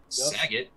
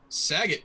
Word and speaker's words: Sagat: name the whole time he's like sagitt sagat is a thai fighter ty he said muay thai fighter from thailand and